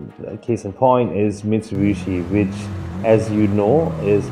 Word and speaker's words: Mitsubishi: and he she but when it's pronounced in the middle of a word or it's pronounced with a b so he she actually